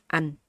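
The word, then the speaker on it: anh: Okay, your tongue up here. An. A. N. An. Okay. But with your mouth like kind of smile. Okay, keep the smiling. Okay, an. Because if you don't smile, it's gonna sound like all the vowels.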